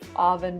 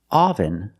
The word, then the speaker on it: oven: let's talk about pronunciation the pronunciation is not oven but oven the first syllable makes a sound uh like cup and up uh uh this is a relaxed sound your mouth is almost closed uh uh uh oven oven so let's talk about